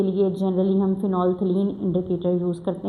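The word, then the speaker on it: phenolphthalein: Strong basis के लिए generally हम फिनोलथिलीन इंडिकेटर यूज़ करते हैं। याद रखें फिनोलथिलीन में इसकी स्पेलिंग में जो दरमियान में पीएच आता है वो साइलेंट है। आपने इसको फिनोफ्थलीन नहीं बोलना।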